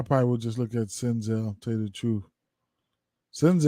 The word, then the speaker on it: Senzel: would just look at senzel who else um I probably would just look at senzel tell you the truth sends out looks really really good sends it rhymes with my name Denzel all right so uh